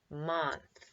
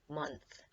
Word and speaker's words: month: we say it mmm month close but in this case in this word the o sounds like a u month so it's important to